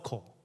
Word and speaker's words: Corps: Love, 사랑, 코, 여기는 P는 묵음이에요. 소리가 안 나요. Love Corps, 군대라는 뜻이에요.